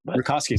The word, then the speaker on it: Rakoski: Rakoski.